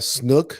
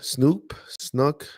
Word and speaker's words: Snoke: I'm sorry, I know I'm jumping around, but the last one, was it Snook, Snoke. We just pronounce Snoke.